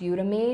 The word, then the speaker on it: Udemy: I really like called, I think it's pronounced Udemy.